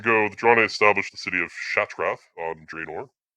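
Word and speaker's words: Shattrath: So, anyway, 195 years ago, the Draenei established the city of Shatrath on Draenor. Some people pronounce it Shatarath. I don't know where they get the extra A from. It is separately Shatrath.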